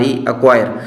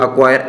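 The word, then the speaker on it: acquire: क्यू यू आई आर इक्वायर सी खामोश लेकिन spell में काउंट थी करे जी स्पेल याद रख जो एक्वायर ए सी क्यू यू आई आर इ जो साइलेंट लेटर भी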